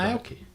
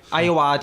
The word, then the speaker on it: Ayoade: Stephen Richard Aoki. No, Richard Ayoade. Is For how you anyone who pronounce doesn't it, know yeah? him, Yeah. Ayoade it is.